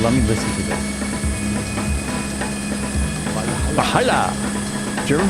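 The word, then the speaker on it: Walhalla: Valhalla. German pronunciation, Valhalla.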